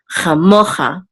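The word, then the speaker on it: כָמֹכָה: So the accent is on mo, chamocha.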